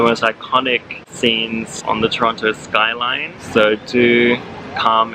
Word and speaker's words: Toronto: I keep on saying the T in Toronto like a big toe, and apparently not supposed to say the T, so Toronto. Toronto.